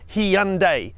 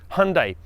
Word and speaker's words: Hyundai: and we checked with the internet and the pronunciation is hyundai not hyundai also can you hit the like subscribe and